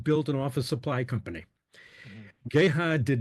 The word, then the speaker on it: Geha: here's The Dental Connection there is an insurance company named jiha and it spells exactly the same so this is GHA yes it is it is different but it's Gaya actually okay and that